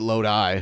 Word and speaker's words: Lodi: Like you got a load in your eye. L O Di. That's Oh, L O Di. So like Loi Lo, but they pronounce it Loi.